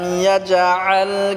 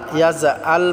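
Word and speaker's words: يَجْعَلْ: আলাম ইয়াজআল কাইদাহুম ফি তাদলিল। আলাম ইয়াজআল, আলাম ইয়াজআল, ইয়াজআল বললে হবে না, জিমটাকে শক্ত করে উচ্চারণ করতে হবে, আইনটাকে গলায় চাপ দিয়ে উচ্চারণ করতে হবে।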